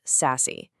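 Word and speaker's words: SASE: The big one you'll hear about is Sassy, pronounced Sassy. It bundles networking stuff like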